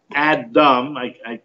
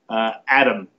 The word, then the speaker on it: Adam: Adam the first man Adam pronounced the D like a t Adam Adam not Adam but